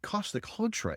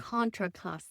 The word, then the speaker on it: Contra Costa: this is um and Costa Contra area and Contra Costa Contraosta thank you I always get that wrong Contraosta but these vines